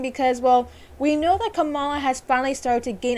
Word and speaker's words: Kamala: tells him essentially that the way to pronounce her name is not camellia but it's kamala now it is a